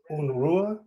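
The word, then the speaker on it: Unrueh: new film called unrest or un Rua do I have that pronunciation right yeah that's right that's right close enough unua which is a film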